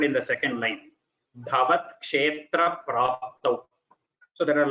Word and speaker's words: क्षेत्र: For example, here bhavat kshetra, you say kshetra. The tra is just tra. You could have said kshetra, but it is almost like there are two tas there, and then there is a ra. It is somewhat, the pronunciation comes like that. That is how we pronounce bhavat kshetra.